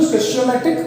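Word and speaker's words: stoichiometric: 2 है 3 है, इनको स्टेचियोमेट्रिक या स्टिचियोमेट्रिक या स्टैचियोमेट्रिक, जैसे भी आप प्रोनाउंसिएशन करना चाहो आपकी मर्जी है, कोएफिशिएंट बोलते हैं।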